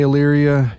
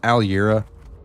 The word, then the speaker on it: Aliera: I know I've been saying it wrong this whole time now that I look at it.